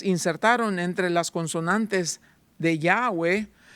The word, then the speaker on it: Yahweh: Normalmente nosotros mencionamos Yahweh, la palabra y hhwh no tiene vocales. ¿Quién eres? Yo soy Yahweh. Oh, okay. ¿Por qué Yahweh? Para que sea imposible de pronunciar. Los judíos en su afán de no usar el nombre de Dios en vano, como dice el mandamiento en Éxodo, decidieron insertar las vocales de Adonay.